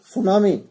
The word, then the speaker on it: tsunami: This is cyclone, drought, storms, cyclone, and last is tsunami. As I told you on that day, tsunami starts with T. T is silent.